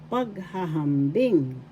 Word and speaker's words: paghahambing: First syllable pag, second syllable wa, third syllable wa, fourth syllable ngis. Pagwawangis. The fourth syllable has the accent, or you could also say the first as well.